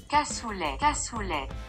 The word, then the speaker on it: cassoulet: Shall we hear the native pronunciation. CASSOULET!